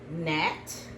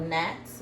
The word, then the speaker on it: gnat: I see Nat. N A T. Those little annoying bugs. Sometimes they're called. They're called gnats.